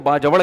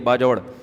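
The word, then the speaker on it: باجوڑ: उनके सुसर केपीके से ताल्लुक है बाजोड़ से बाजवड़ का जिसको बाजवड़ कहते हैं। असल प्रोनाउंसिएशन यह बाजवड़ इतने बड़े आलिम है।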